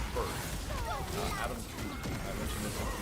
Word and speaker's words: Tooze: First, Adam Tooze.